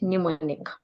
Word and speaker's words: mnemonic: And the letter M can be silent as well in the word mnemonic.